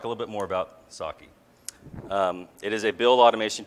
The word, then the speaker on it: psake: by James Kovacs again it is pronounced sake like the like the Japanese rice wine not PS a ke or P sake or something like that its sake it just had many